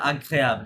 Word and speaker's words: agréable: Les printemps et automne et sorte execrable. এটা উচ্চারণটা কি হবে? সরি মিস্টার এই যে এগ্রেগেবল হ্যাঁ লাস্টের ও আচ্ছা আচ্ছা agréable হ্যাঁ agréable Agréable.